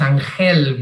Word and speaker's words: Ángel: make the joke that people have a very bad a very hard time pronouncing my name which is angel because of the sound that is very particular from the mediterranean regions and but you spoil